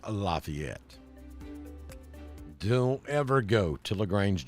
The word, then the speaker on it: Lafayette: that's pronounced Lafayette Lafayette Square in LaGrange is pronounced Lafayette don't ever go to LaGrange Georgia in say Lafayette Square you'll get run out of town so